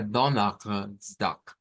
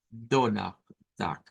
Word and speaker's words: Donnerstag: Puede sonar a Donnerstag, Donnerstag, cuando se hace sonar la R gutural. Entonces, esta es una de las pronunciaciones sin esa R gutural. Donnerstag, Donnerstag.